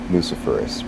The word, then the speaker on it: luciferase: And with the word itself, luciferase, because that is the correct pronunciation. Confirm that. Luciferase, like ace.